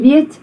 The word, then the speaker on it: weet: And that weet is also ear, it's not e.